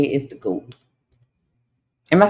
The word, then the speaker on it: GOAT: Who would you say is the GOAT?